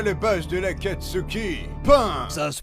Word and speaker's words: Pain: Et donc toi, le page de la Katsuki, pain. Ça se prononce Pain.